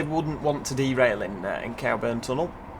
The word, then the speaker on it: Cowburn: Cowburn. It's spelt Cowburn, C-O-W-B-U-R-N, but some people say Coburn. But they're wrong, because it clearly says cow, doesn't it?